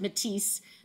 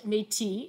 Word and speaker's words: Métis: was that um and we do pronounce it matisse not metis as um for there's a whole history behind that but um one of